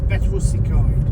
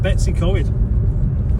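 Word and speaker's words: Betws-y-Coed: I say it as Betwsy Coed. Betwsy Coed, not Betsy Coed.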